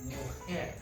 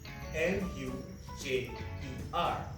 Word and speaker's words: mujer: Now, for woman, we say mujer. And that is spelled M-U-J-E-R. Remember we said that the J is pronounced as an H?